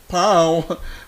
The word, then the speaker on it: Bao: Taiwan food naman tong Pao. Bao siya pero pronunciation daw Pao.